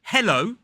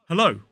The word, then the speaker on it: hello: uh uh hello hello so we don't say hello hello as I often hear it pronounced with that e hello hello with a really aggressive e hello hello it is hello or even hello but personally I use the